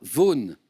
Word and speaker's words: Vaughan: Vous venez d'entendre Sarah Vaughan interpréter Autumn Leaves.